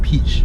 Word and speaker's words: Piëch: a son called Ferdinand piëch or Ferdinand peach okay remember how we got how you pronounce it okay let's say for